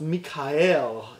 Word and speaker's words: Michael: at it his name Michael is is properly pronounced Mike al in in Hebrew and it translates to who